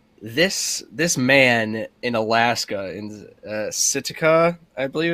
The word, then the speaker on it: Sitka: So, in the spirit of April Fool's Day, this man in Alaska, in Sitka, I believe it's pronounced, Alaska.